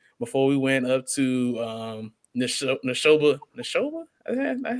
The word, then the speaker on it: Neshoba: games, and then before we went up to Neshoba. That's how you say it? Neshoba Central.